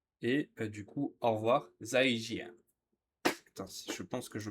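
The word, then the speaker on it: 再见: 再见，再见， Zaijian. Zaijian. Non, 再见， zaijian. Voilà, en fait, c'est juste que je prononce le J alors que c'est un ch.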